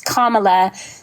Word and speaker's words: Kamala: to say her name her name's not it's Kamala it's not Kam yeah because because he believes